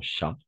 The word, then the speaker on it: chat: On va prononcer tout simplement chat. Oui, c'est un peu bizarre, mais on va prononcer chat, même en espagnol, même au singulier, même au pluriel.